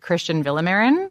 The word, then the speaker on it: Cristian Villamarin: I'm sitting with, correct me if I'm pronouncing it wrong, is it Cristian Villamarin? Yeah.